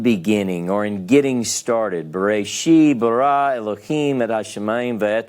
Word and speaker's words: Bereshit: So you're going to say Bereshit. Bereshit. Now this actually coalesces with the aleph, so this is one syllable. It's Bereshit.